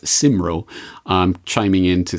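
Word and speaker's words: Cymro: but I have it on good authority it's pronounced simro um chiming in to say that that's a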